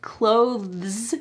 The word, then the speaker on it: clothes: Because clothes with the th is really hard to say. So, in this instance, you have an easy pronunciation that is actually accurate. It's how we pronounce it.